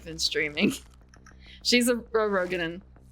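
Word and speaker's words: Roegadyn: streaming she's a a rogin it's pronounced rugen but it's rogin whatever uh I will show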